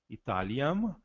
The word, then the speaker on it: Italiam: Italiam, o M final vai ser bem pronunciado, né? Italiam, descripsimus.